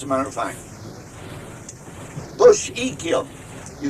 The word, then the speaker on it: Echium: Bush Echium. You spell it E-C-H-R-U-M.